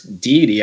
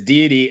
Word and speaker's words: deity: I'm in I'm listening we're arguing over how to pronounce the name cuz I said de and then no you said you said Dei that works and I said DIY and and Reena what